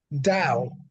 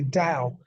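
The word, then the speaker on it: Tao: T Au oh sorry ta o which is Dow is phonetically Dow and obviously the da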